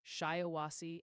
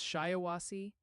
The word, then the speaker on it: Shiawassee: They're saying it's pronounced Shiawassee and Otsego.